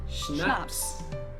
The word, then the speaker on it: Schnapps: Schnapps. This one I also mentioned in my video on alcohol culture. In German, we spell it like this and say Schnapps, and it means hard liquor.